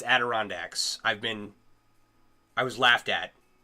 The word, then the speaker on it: Adirondacks: I was like, the Adirondacks, the Adirondack Mountains, right? And that is not how you pronounce that. It's Adirondacks.